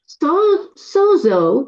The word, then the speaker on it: sozo: सोजो is pronounce सोजो एंड इट इज a Greek word. सोजो जिसको हम पढ़ते हैं सोजो बट उसको उच्चारण सोजो करके कहा जाता है जो एक यूनानी शब्द है एंड इट्स इन द